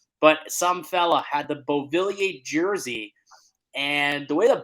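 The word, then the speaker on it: Beauvillier: to change here but some fella had the bovillier jersey and the way that bovillier is spelled he's French obviously if those were listening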